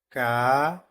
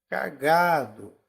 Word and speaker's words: cagado: o g penúltima né eu falo cagado cagado cagado então o g é a sílaba mais forte meu Deus eu tô